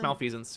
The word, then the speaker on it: malfeasance: Yeah, it's malfeasance.